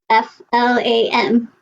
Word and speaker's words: flam: mood i love that f-l-a-m how do you spell that you almost no it's not like phlegm chris yeah it's flam that's a thing yeah